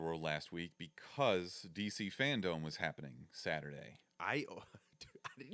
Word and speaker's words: FanDome: But DC for sure told everyone, like, hey, people are calling it Fandom. Make sure it's FanDome.